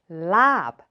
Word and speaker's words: larb: in Thai is pronounced lab but the reason why so many Thai restaurants choose to put r in it even though there is no R sound anywhere in lab is because in Thai